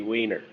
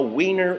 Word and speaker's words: Weiner: He could have just as easily said that his name is pronounced Werner or Winner or Weiner. It's been done before. Just ask Brett Favre. Anyhow, Weiner will not go away.